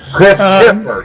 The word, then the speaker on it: Christifer: His name is spelled Christifer, not Phifer, but T-I. It's spelled just like it sounds. Christopher, yes.